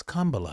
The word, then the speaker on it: Kamala: you pronounce her name and again it's coma for anybody that doesn't